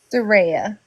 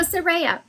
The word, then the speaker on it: Saraya: Soraya. Saraya. Oh, I should put a R-A-Y in there. That would make me say it correctly. S-A-R. There you go. Saraya. I wrote it phonetically. Okay, now Saraya, there is a gentleman